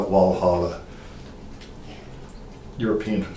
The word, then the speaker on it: Walhalla: there were more than 400 germans living in valhalla or walla it's still pronounced we call it walhalla europeans would say that's okay in 1865 a